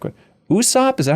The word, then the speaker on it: Usopp: around and see everybody's different moves like what Usopp is that how you say his name yeah